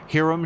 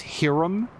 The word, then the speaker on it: Hiram: Have you ever heard it pronounced Hiram? Because every character in this game says it is Hiram. And I'm not saying that it can't be that, it's just the less common pronunciation.